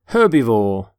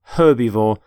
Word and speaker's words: herbivore: herb by the way you pronounce the h in the word herbivore for example the stomach